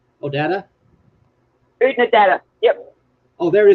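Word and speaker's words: Oodnadatta: I'm just here for a minute because I'm in the middle of cooking dinner, but it's pronounced Udnadata. Odata? Udnadata. Yep. Oh, there it is right there. Utnadata.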